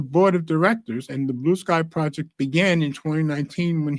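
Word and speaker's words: Bluesky: site doesn't capitalize the s in Sky it's pronounced Blue Sky don't rhyme it with brucei the app that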